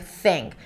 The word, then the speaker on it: think: Sink and then you're pronouncing an s sound instead of a th sound. Sink instead of think.